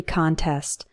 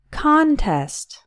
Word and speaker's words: contest: work in a poetry contest the first prize is $500 the stress is on the first syllable and we pronounce it con contest we also have the